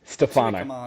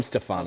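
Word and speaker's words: Stefano: So yeah, we have pretty much an unchanged Manuanu pronounce it. Stfano. Just call him Stfano. So I'm I'm overthinking it. It's Yeah, it's Yeah, it's a lot easier than it looks.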